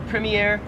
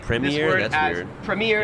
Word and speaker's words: premiere: 36 is premier or premiere so in american english wow premiere yeah we just say australian premiere i honestly i kind